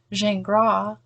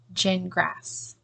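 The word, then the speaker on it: Gingras: version of things or a phonetic way of spelling zhangra I don't know if you're gonna get that pronunciation out of g-i-n-g-r-a-s that might sound like gin grass so perhaps it makes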